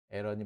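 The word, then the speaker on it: Aaron: 맞는데 영어를 영어를 번역할 때는 발음이 원칙입니다 그래서 발음이 원기 때문에 에런이라고 하시는게 맞아요 에런이 맞습니다 에런 스키 스키 스키 Now 사 취재원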